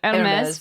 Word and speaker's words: Hermès: Oh, you pronounce the S at the end. Good to know. Okay, it is French, so Hermès.